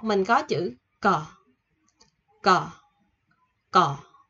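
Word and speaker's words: ㄱ: Số 1 mình có chữ cờ. Cờ. Cờ. Nó sẽ là chữ nằm giữa chữ K và chữ G. Mình sẽ đọc là cờ.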